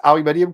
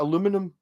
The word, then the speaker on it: aluminium: Handicap, I like pronounce aluminium correctly. It feels refreshing. Yeah. Oh, there's a few things. Yes. Aluminium. Yes, as opposed to aluminum.